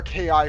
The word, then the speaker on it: KI: We need to find, so any door with a light above it will be powered by our KI and open. By the way, it's pronounced KI, not key. Yeah.